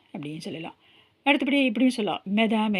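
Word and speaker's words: mesdames: அடுத்தபடி இப்படியும் சொல்லலாம், மெதாம் ஏ மெஸ்யூன்னு சொல்லலாம். இப்போ இதில் பார்த்தீங்கன்னா அந்த மெதாமில் வந்து எஸ் இருக்குது நடுவில் இல்லையா? அந்த எஸ் இருக்குது பாருங்கள். இதை வந்து நம்ம ப்ரொனவுன்ஸ் பண்ண மாட்டேங்கிறோம்.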